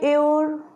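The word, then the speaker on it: hour: What do you mean by aor? Actually aor means next generation. Okay, so before aor, because you see here H is also hidden for pronunciation, this is aor, and before aor you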